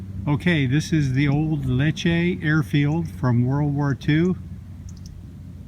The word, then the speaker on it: Lecce: And he showed some films that were taken at, I guess it's pronounced L-E-C, it's spelled L-E-C-C-E, Lecce, Lecce, in the air base